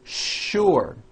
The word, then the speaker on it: sure: in English that are written with the letter S but are pronounced with the SH sound words like sugar and sure and to make things